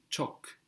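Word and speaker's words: çok: word for very is chalk chalk it's spelled c with a little tail on the C which gives us the equivalent to c h in English Okay chalk CH so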